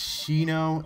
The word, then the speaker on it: Shinno: I believe it's Shino, S-H-I-N-N-O.